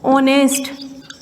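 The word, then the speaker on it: honest: दूसरा यहाँ पे देखते हैं जैसे ऑनेस्ट, इसका प्रोनाउंसिएशन भी क्या हुआ, ऑनेस्ट, इसीलिए इसके आगे अपन लगाते एन।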